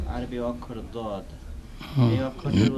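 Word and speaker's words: ض: দও নয় জও নাই, তবে মাঝামাঝি, জয়ের কাছাকাছি, মাঝামাঝি, দয়ের কাছাকাছি নয় বরং, বা দালের কাছাকাছি নয় বরং জয়ের কাছাকাছি।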